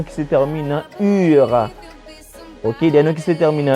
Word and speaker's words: eau: On dit l'eau, ça s'écrit avec E-A-U, d'accord? On dit uno, O s'écrit avec E-A-U. O, c'est un nom féminin.